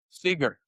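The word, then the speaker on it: Sygar: How about Rick Siger? Uh is that is that am I pronouncing it right? Uh Tom Seager.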